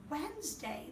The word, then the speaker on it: Wednesday: We like to think of it as Wednesday, because when you say the word Wednesday, the D is silent.